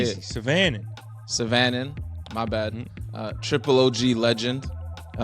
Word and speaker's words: Syvanen: Syvanen.